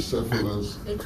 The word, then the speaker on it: hydrocephalus: You say, how do you spell it? Hydrocephalus? Hydrocephalus. Cephalus? Well, Americans hydrocephalus, British I got you. hydrocephalus.